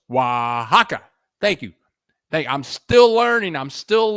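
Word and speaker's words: Oaxaca: all already Stephen Nathan ohaka thank you thank you Stephen Nathan ohaka oh Waka thank you so much for help with that pronunciation Waka uh oh close wahaka thank you thank I'm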